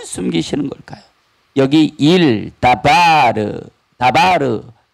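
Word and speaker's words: דבר: 숨기는 것 일 여기 다바르 다바르 발음도 똑같고 글자 모양도 똑같아요 그런데 우리가 말하는 바르와 오늘이 본문에 나와 있는 다르는 발음만 좀 다를 분 다 똑같아요 다 똑같아요 다바르 다바르 바가 장음이 나와요 그런데 다 똑같은 발음이에요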